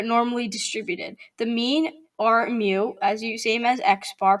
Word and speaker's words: mu: a typo where normally distributed the mean or mu as you same as x-bar pronounced mu that's that's the symbol you all